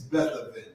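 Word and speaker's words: Beth-aven: Was it Bethel? It's Bethaven. Bethaven.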